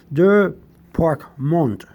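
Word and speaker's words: débarquement: That's the Q-U-E is like a K sound in French. Department Mont system. Because in English it'd be mint, right? Like apartment, the M-E-N-T, but in French it's like a mont sound.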